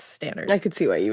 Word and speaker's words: Stannard: of Mary Stannard and I looked up the pronunciation to say it because I thought it was stenard at first but it's Stannard I could see why you would think that